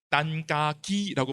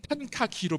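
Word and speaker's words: 陳嘉庚: 거의 2차 세계대전쯤의 인물인데 딴까기라고 발음합니다. 민남어로. 한국에서 항상 탄카키로 표기합니다.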